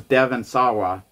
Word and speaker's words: Devon Sawa: But every single time, this is Devon Sawa.